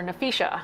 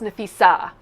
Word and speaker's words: Nafisa: nafisa's name yeah um they called her nafisha which is what I do a lot yeah Y and so coach Reeves goes off she's like it's nefa not nafisha nefisa and nefisa is